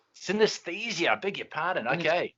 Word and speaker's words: Synaesthesia: Have I got the pronunciation right, Daniel? Synaesthesia. Synaesthesia.